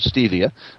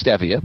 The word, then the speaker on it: stevia: And those 3 are stevia, which most people pronounce incorrectly. They think that it's called stevia, but it's stevia.